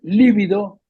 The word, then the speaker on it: lívido: lívido, es libido, Ujú, porque lívido es con acento en la primera I, con B corta, y significa blanquecino o mortecino, lívido.